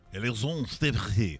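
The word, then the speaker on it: Alexandre Despatie: Is it Alexander Despartie? Despartie. Right? Yeah. Alexandre Despartie.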